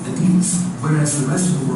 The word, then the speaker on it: Adidas: After a person, which is why people pronounce it Adidas. It's named after Adi Dassler, a German guy who got in a fight with his brother.